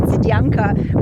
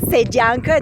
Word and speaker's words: Sedyanka: My husband has decided that I am pronouncing the word Sedyanka with an Eastern Bulgarian accent, so I particularly want to emphasize it is said called Sedyanka, not Sedyanka.